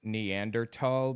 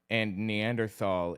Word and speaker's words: Neanderthal: Kind of like how technically, like, the word Neanderthal is pronounced Neanderthal because Germans don't have a TH sound. And Neanderthal is the English Anglicization or whatever.